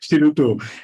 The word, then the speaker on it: Shiruto: Yeah, actually, Shiruto itself, the name, if you think, you pronounce Shiruto, the time, the shi is sound like shield, a shield that going to defend yourself, the shield.